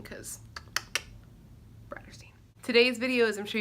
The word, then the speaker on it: Bratterstein: My channel name is pronounced Bratterstein, like Brat and Catterstein, but Bratterstein because Bratterstein.